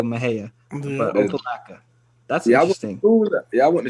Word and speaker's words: Mexia: right like in Texas we have Maha Texas right and Maha is spelled Mexi a Mexia but they go Maha but opaka that's y'all